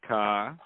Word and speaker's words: Kaa: Rebels broadcast with James Kaa. Okay, that's how it's pronounced. Is that right? Yeah. See, learn something every day. It's common that people think it's Kaa, but it's K.